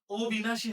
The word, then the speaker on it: অবিনাশী: কিন্তু হবে না। কেন হবে না? ওই যে এখানে অ যুক্ত হইছে। যে শব্দের পূর্বে ওই শব্দের পূর্বে অ যুক্ত হয়ে বিপরীত অর্থ দিয়েছে। তাইলে আর অ এর উচ্চারণ সংগৃত হবে না। ও হবে না। অ থাকবে। তাহলে এটার উচ্চারণ কি হবে? এটার উচ্চারণ হবে অ বি নাশি অ বি নাশি এটা